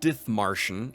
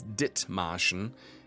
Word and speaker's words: Dithmarschen: It's not Dithmarschen, it's Dithmarschen, The H is silent. It's not a TH sound like in English. It's just dit.